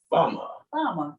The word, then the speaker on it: Fawma: right here and she is the ceo of farmer and i'm not saying it right uh she told me earlier i'm gonna mispronounce it because it's spelled f-a-w-m-a so this f-a-w-m-a dot-com and farmer follow-up you've got it see natasha's got it